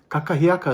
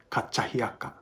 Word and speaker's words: kakahiaka: So the second K is sometimes pronounced by kupuna as kachahiaka, kachahiaka.